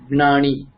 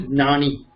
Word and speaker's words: ज्ञानी: Okay, not Gnani. Okay, Hindi pronunciation is Jnani. It is wrong.